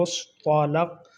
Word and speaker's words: مصطلق: مزدلفہ۔ غزوہ بنو مصطلق۔ غزوہ بنو مصطلق، یعنی طوا کے اوپر بھی زبر ہے، لام کے اوپر بھی